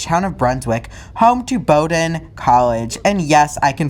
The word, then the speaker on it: Bowdoin: Bean, and finishes at the college town of Brunswick, home to Bowdoin College, and yes, I can finally pronounce it correctly, and a gateway to some of the most beautiful coastlines on the East Coast.